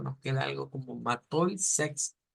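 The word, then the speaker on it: sechs: Luego habíamos dicho que el número 6 en alemán se pronuncia Sex. Sex, con una Z, Sex, una K.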